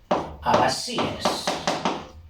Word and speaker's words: abasíes: Y posteriormente en la familia de los abasíes, con dos Bs, abasíes. Vamos a poner el acento en la I para que pronunciemos algo bien, que se trasladaron en